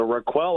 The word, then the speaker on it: Raquel: is fans are asking how do you pronounce armstead's first name requel r and then quell so Raquel Armstead are you going to